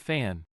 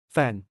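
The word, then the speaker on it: แฟน: Pun rhymes with fan. This means spouse or romantic partner. Again used only in the third person. Fan fan fan.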